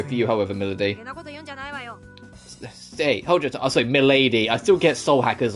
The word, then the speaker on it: Milady: you however middle day Milady I still get Soul hackers on the Mind where they have a character and called Melody but it's spelled Milady so I always impossibly go